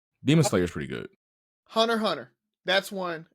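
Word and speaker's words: Hunter × Hunter: Hunter Hunter. That's one. It'll say Hunter X Hunter. That's a dope show if you want to get into that one.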